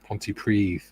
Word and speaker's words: Pontypridd: Nana was born in Pontypridd. Pontypridd, not Pontypridd. It's Pontypridd. That's how it's spelled.